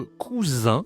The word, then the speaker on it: cousin: Donc ensuite, c'est comme en anglais ici, le cousin. Attention, la prononciation, c'est une nasale, hein. Un le cousin.